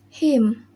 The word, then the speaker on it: hymn: The letter N. Rule: N is not pronounced when it comes after M at the end of a word. Example: autumn, hymn, column, solemn, and dam.